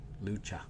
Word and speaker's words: Lucha: Lucha You pronounce the c h like cha-cha-cha. Okay, Lucha.